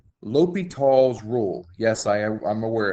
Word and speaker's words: L'Hospital: a certain point this is what is called ly tall's rule yes I I'm aware it's spelled l apostrophe hospitals rule um it's pronounced lital I'm assuming it's a French uh actually I